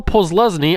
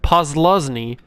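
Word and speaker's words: Posluszny: linebacker we got paul paul pulls lesni i always get his name wrong paul posluzny and manti teo obviously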